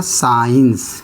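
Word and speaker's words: science: क्या रहेगा साइलेंट रहेगा एस सी आई इ एन सी क्या हो गया साइंस क्या हो गया साइंस यानी सी साइलेंट है एस के बाद सी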